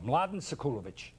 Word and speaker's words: Mladen Sekulović: My name is, can you pronounce it? No, Mladen Sekulović. Mladen Sekulović.